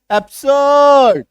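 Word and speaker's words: absurd: को साइलेंट करना third A बी एस यू आर डी आर के बाद एक कांसेंट साउंड तो अ ब स अ ड एब्स र को साइलेंट कर दो।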